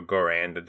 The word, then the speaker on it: Garand: Because semi-auto is very difficult, even though I do know the M1 Garand, or Garand, depending on how you want to pronounce it, is a semi-automatic weapon,